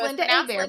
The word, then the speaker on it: Lynda Hebert: So it's pronounced Linda Hebert, but sounds nothing like it.